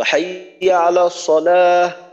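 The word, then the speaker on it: حَيَّ عَلَى الصَّلَاة: জজম পড়তে হবে তো হাইয়া আলাস সালা এটা একটা বাক্যের শেষ তো এইটা যদি এক শেষেও বলি তারপরও এখানে জজম পড়তে হবে হাইয়া আলাস সালা হাইয়া আলাস এখানে আপনার ই পড়া যাবে না ঠিক আছে ইনশাল্লাহ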